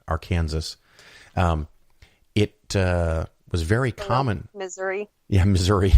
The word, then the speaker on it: Arkansas: you don't know it that's the proper way to say that state below Missouri Arkansas it was very common